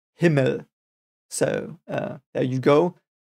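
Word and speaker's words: Himmel: forward word himl it's I think it's almost uh pronounced the way you would think it is I think the e in the end that it is an e is a bit weird perhaps for you but it is pronounced himl so uh there you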